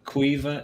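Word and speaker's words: Caoimhe: There's also Cuiva. Cuiva is Caoimh. It's just the Irish language, so it's a bit messed up.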